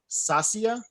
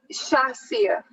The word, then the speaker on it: Shasia: It's Shasia. Sasia? Shasia. Shasia.